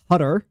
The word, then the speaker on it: Qatar: It's weird how when it came to the World Cup in Qatar, we all just started to pronounce Qatar differently. Qatar. Everyone was saying Qatar just for the World Cup and everyone's gone back to saying Qatar.